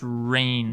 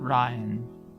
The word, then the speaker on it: Rain: awesome big spectacle game my name is pronounced rain not ryan thank you rain 3d